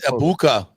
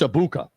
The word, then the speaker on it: Egbuka: And it's Egbuka. The G is silent. Okay, so just Egbuka. It's Egbuka.